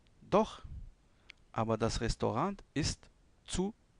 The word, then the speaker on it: zu: Doch, aber das Restaurant ist zu teuer. Rappelez-vous du Z qui prononce ts, zu, teuer.